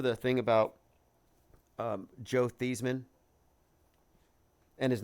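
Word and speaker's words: Theismann: thing about um Joe theeman and his name spelled like thigh it sounds like like thyman but theeman um anyway uh he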